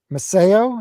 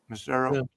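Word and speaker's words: Macero: Producer Teao Marcero mo. Is that how you say it? Misero. It's I thought it was Mo. Teao. You are a jazz bomb. You don't know anything. It's missero.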